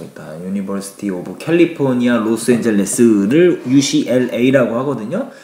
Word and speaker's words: UCLA: 유시티 오브 캘리포니아 로스엔젤레스를 UCLA 하거든요 그런데 이것을 옥이는 우클라 발음을 한 거죠 클라가 아니라 미국에 있는 대학교인 UCLA 아아 자 MIT 가리키면서